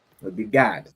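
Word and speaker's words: גד: But young man, how would you pronounce coriander in Hebrew? That would be Gad. It would be Gad, right?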